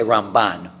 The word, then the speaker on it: Ramban: moshe ben nachmann and since the m and the n sound alike we pronounce them differently we say rambam but we say ramban so we emphasize a different syllable so that we're not